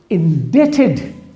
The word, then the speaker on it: indebted: Next is ये बेटे INDEBTED इंडेप्टेड नहीं पढ़ेंगे, यहां पर इस बी को साइलेंट करेंगे.